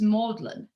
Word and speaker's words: Magdalen: college at oxford and it's spelt magdalene like you know mary magdalene of the bible but it's pronounced maudlin by anybody who knows how to pronounce it it's just an example